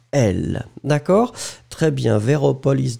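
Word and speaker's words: elles: Alors, oui, in that situation, it's quite simple if you look at it, because basically, it is elle, so like the subject, elle, remember, E-L-L-E-S, same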